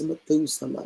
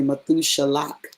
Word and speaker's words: Methuselah: Oh, that's Methuselah, right? It's really Methushalach, right?